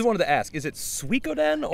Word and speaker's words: Suikoden: I always wanted to ask, is it Suikoden? Or it's we did a thing at the old place about pronunciation, and it's Suikoden. Suikoden. Like chop suey, like sui. Suikoden.